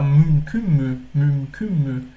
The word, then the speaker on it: mümkün: Essa daqui é uma delas. Mümkün. Por que é um pouquinho difícil? Porque a gente tem esse som de M aqui.